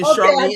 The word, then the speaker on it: Charlene: We are live, Sister Charlene. Am I pronouncing your name right?